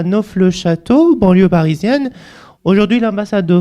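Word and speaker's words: Neauphle-le-Château: Donc après les Iraniens le prononcent à leur manière, ils disent Nfel le château.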